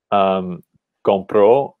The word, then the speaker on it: compró: without an accent mark, we're tempted to want to put the stress on the first syllable and say compró.